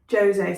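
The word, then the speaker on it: José: It's a Portuguese Jose, so you do pronounce the J, I believe, but I still think I'm not quite getting that pronunciation right. But it's not a Jose, as far as I know, if he's Portuguese.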